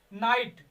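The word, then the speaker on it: knight: फिर से, किसी भी स्पेलिंग में अगर के के बाद यन आता है, के के बाद यन आ रहा है और उसके बाद कोई वावेल है, 5 में से कोई भी वावेल है, उसके बाद वो ज्यादातर वहां पर के का उच्चारण नहीं किया जाएगा, के को नहीं पढ़ा जाएगा।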